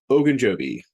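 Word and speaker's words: Ogunjobi: tight end CJ Zuma and defensive tackle Larry ogan Joby and I do know that's how you say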